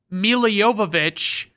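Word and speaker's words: Milla Jovovich: I'll just say that it's because Mila Yovich is the way she pronounces it.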